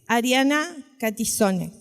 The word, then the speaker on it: Catizone: Hola Mi nombre es Ariana catizone así se pronuncia y me dicen Lali